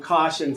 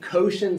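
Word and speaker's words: cosh: starts rotating both you there's different pronunciations of this I call them caution cinch some people will call them koshen cinch some people will call them other things there's no they're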